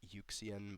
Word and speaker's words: UXN: uh looking at uh UXN. He pronounces it Yukian, but yeah.